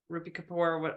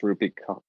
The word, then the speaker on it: Rupi Kaur: And, you know, oddly enough, like the Instagram poets, Rupi Kapoor, I don't, did I pronounce that right? I think it's Rupi Kaur. Kaur. Oh, Kaur.